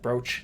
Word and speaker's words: brooch: one br br br or broch brooch that's how you say it that's way better Broach uh two beads set